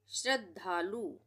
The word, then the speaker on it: श्रद्धालु: की मात्रा लगेगी करुणा श्रद्धालु श्रद्धालु यहां पे श्रद्धालु में श्र तो आता ही है लिखना है ना और आधे द का उच्चारण हो रहा है तो यहां पे ये आधा द है यहीं पे बस यहीं रुक गया ठीक है और धालु ध पूरा ये ध पूरा है श्रद्धालु श्रद्धालु पढ़ के बोल